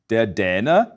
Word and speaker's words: Däne: As you can hear, this A umlaut is pronounced close to the vowel in English's bed and said, Dänemark.